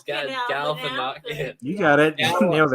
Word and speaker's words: Galifianakis: I'm getting the Super Troopers pronunciation in my head mixed up. Galanokis is the semi truck driver. Zach Galifianakis. Galifianakis.